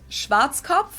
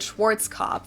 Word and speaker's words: Schwarzkopf: We just In create a German, new we English pronounce word. it Schwarzkopf, which literally means black head. Schwarzkopf. English native speakers usually pronounce it Schwarzkopf or Yep, Schwarzkopf Schwarzkopf.